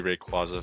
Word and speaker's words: Rayquaza: the the qua because of like quazar then like you would have no indication to know that it's like a it's got a y sound at the end of it like quazar you'd have no indication of it unless you knew the background of the name which is why it'll always be Rayquaza for It's like how